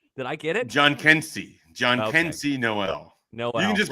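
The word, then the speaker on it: Jhonkensy: Is it Jahensky Noel? Is that how it's pronounced? Did I get it? John Kensey Noel.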